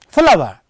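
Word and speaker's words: flour: write a word here f l o u r flower i have written here a flower i cannot say afalava here is a flower see pronunciation for the words is same it is not follow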